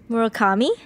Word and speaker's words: Murakami: need to talk about I hope I'm pronouncing this correctly yeah Murakami yes perfect from somewhere that yeah